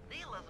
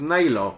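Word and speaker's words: Neyla: Neela's made a headquarters out of that old Neela? No, it's Naylor. It's a pretty secure Not location. Neela. It'll take some doing. I think they all pronounce it differently.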